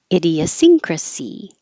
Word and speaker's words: idiosyncrasy: ah they're back Adam idiosyncrasy you can say idio or idea because it's not stressed idiosyncrasy oh I have